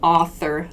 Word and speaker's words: author: person who wrote something this is a really good pronunciation point too that th sound author author th author in publication author there